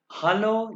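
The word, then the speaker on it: Hallo: ये जर्मन, ये इसको हेलो को कैसे प्रोनाउंस करते हैं?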